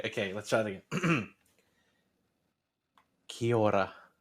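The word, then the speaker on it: Kia ora: let's try it again kiora try and do it like a little bit of a roll of the tongue in the middle i can't see that's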